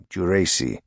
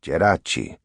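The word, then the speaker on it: Geraci: him for exceeding to the American pronunciation of his name, Jurice, instead of Jerachi, and under numerous aliases, he was Sicilian, but fair-haired, able to pass as Irish or German.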